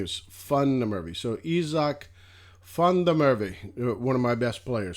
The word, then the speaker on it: Izak van der Merwe: told me it was funny murphy so izak fundamerve one of my best players for sure how